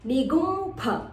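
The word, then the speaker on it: निगुम्फ: Second line, nigumpha. So it can be pronounced as a p or a f.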